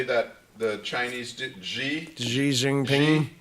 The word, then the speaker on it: Xi Jinping: possibly that he and, how do you say that, the Chinese, Xi, Xi Jinping. Xi Jinping.